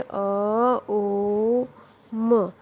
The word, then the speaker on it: AUM: AUM को भी इस तरह से बोला जाता है, अ ओ म, अ ओ म, यानी